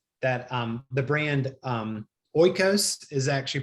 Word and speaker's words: Oikos: realize that well that um the brand um oikos is actually pronounced ecos and it's not really true greek yogurt neither